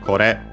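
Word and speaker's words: これ: With the re, we get kore, unaccented, as mentioned.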